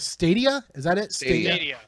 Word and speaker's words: Stadia: How do we pronounce Stadia? Is that it? Stadia. Stadia.